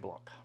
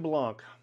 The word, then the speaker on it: blanc: pronounce the C, but in France generally, If the word doesn't end in an E, you do not pronounce the next consonant. Weird, I know, but that's how you do it. So this would be Chenin Blanc. The word for white in French is blanc, not blanc.